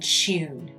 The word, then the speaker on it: tune: Other words that diverge in pronunciation between the British and American accent are words in which you have a y sound in the UK pronunciation. For example, during, news, and tune. With an English accent, those words are said with the y sound.